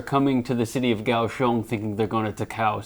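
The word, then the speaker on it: Kaohsiung: japanese tourists are coming to the city of gaoshong thinking they're going to takaow city yes that's correct that's just now final question for you when do you think gaoshong uh became gauchon like the actual chinese pronunciation became the official way to say the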